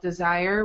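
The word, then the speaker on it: DSIRE: It's called Desire, which I believe is spelled D-I-R-S-E.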